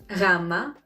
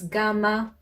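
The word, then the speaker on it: γάμμα: the following letters vita rama delta fita as you can see i probably pronounced them differently from how you know them you might have heard vita as beta rama as gamma and as upsilon and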